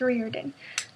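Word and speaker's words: Riordan: that I thank you Rick Reen Reen ryen Reen I think I said it wrong in my last videos so I'm going to try to change it here I think it's Reen um so I want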